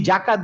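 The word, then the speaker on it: زكاة: আমার উচ্চারণটা শোনো, যা, যা। জাকাত, হ্যাঁ, আমি যদি জাকাত বলতাম তাহলে উচ্চারণটা ডিফারেন্ট আসতো না।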